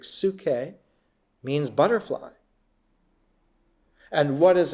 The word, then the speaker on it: psyche: The Greek word psyche, pronounced in Greek psyche, means butterfly.